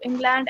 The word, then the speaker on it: England: ट्राई नॉट to pronounce the last D, ट्राई नॉट to pronounce the last D. से इंग्लैंड बोल, नहीं तो यही प्रोनाउंसिएशन रहेगा तेरा, इंग्लैंड। तो England.